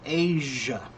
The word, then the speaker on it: Asia: Asia. It's almost the same, Mike. Again, it's got that sound. Okay. But it's Mike that sound that we do in English is very similar to the z sound in Chinese like right.